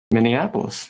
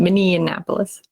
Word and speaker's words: Minneapolis: mini at minneapolis minneapolis is that how you say it you said it correct this time good job oh that's because i wasn't thinking about it usually in mini annapolis minion indianapolis there's your